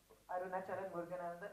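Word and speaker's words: Arunachalam Muruganantham: Arunachalam Muruganandan.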